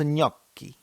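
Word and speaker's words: Gnocchi: Bonjour prononce Goki. Pardon cher monsieur mais ça s'écrit gni.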